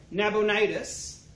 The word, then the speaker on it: Nabonidus: For Marduk has rejected Nabonidus, the Babylonian king. I made sure to look up the pronunciation this time.